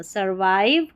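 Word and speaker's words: survive: विव नहीं पढ़ना। सर्वाइव ड्यू डी यू due ring are आई एन G ring.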